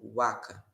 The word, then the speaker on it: vaca: reconstituída como i e o v como u então por exemplo a palavra vaca vai pronunciar como Waka ou ess aqui it